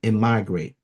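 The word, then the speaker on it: emigrate: he decided to am immigrate. That's how you say it. E M I G R A T E.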